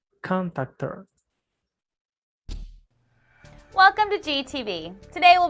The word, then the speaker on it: contactor: Contactor. Tiene como el acento en la ON. Contactor. Contactor.